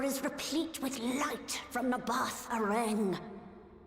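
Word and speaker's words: Nabaath: The tower is replete with light from Nabath Aren. Oh, Nabath. I thought you say it. I've been saying Nabot or something. Actually, I wasn't saying it right.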